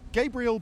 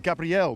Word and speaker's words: Gabriel: 1 this year it's Gabriel boretto am I not pronouncing Gabriel is it Gabrielle boretto well that's how we say it in Brazil but I'm fully fine with Gabriel as well Gabrielle in Italian so good B oh